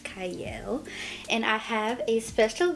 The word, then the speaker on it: Qiayel: it starts with a q but it is pronounced cyle and I have a special guest with me